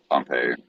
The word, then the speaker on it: Pompeii: the town is pronounced Pompeii. He's pronounced Pompey.